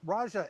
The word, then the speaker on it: Raja: well obviously congratulations um Raja am I pronouncing your name right with the soft J' like to get it right I'm assuming it's Raja all right great we are right Okay.